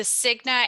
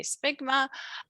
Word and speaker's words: Cigna: student on campus and first of all they can't pronounce cigna they might say stigma um you know i